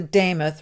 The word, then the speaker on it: Demuth: But before we let you go, Lisa Lisa Damoth rhymes with name.